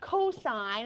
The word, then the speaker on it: cos: C-O-S is the cosine, and it's pronounced cosine, and that's the full spelling of it, okay?